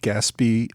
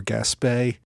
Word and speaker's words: Gaspee: outset I'll note that there is some debate whether to pronounce it gasby or gaspay I'm going with gasby but if you care don't take that as the final authoritative answer on the pronunciation now following the repeal